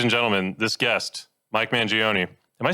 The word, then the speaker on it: Mangione: I always say it's like Joni Mitchell. Mangione Mitchell. So you don't want the Gioni, you just want Joni. If you want to say it and sound like you're saying it right.